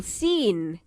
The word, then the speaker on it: scene: the knot let's read the sound is an initial silent digraph where the sea is silent when it is followed by an e or I read the words aloud don't forget to keep the C silent scene sent scissors scientist